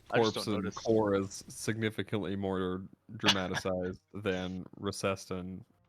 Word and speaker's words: Corps: recessed foreign it's just I keep trying to say the p and it's like a silent P which is really weird to me yeah yeah it probably it probably relates to uh the French pronunciation uh these uh Nancy's